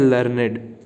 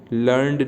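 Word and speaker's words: learned: तो very few मैन आर एज लर्नेड एज ही. देखो इसको कैसे प्रोनाउंस करेंगे, लर्नेड. लर्नड नहीं होता, लर्नेड होता है, ठीक है.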